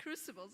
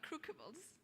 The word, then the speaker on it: crucibles: even the fact that it's pronounced crucibles are not crookables and it was more